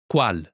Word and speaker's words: Qual: Pronunciation note, Qual? is the shortened form of Quale? when Quale? is followed by a word which starts with its same final vowel sound. E. It's shortened to. Qual?